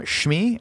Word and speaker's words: Shmi: Back on Tatooine, Anakin's mom, Shmi, is that how you say her name? Yeah. Shmi.